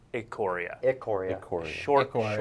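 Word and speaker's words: Ikoria: tharros beyond death or it Korea yeah you may not have heard it pronounced that way before I was told immediately before the show it is a Coria it Koryak or short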